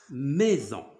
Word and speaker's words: maison: Maison. Maison. Alors, je vais te poser une question. Alors, regarde bien. دابا هذه السي صالح كنقراوها ميزون. alors قلنا هاد اس هادي كنطقوها بحال زد.